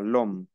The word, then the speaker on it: l'homme: La H muda y es una sola palabra. L'homme.